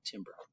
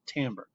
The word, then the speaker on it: timbre: It's pronounced timbre, not timbre.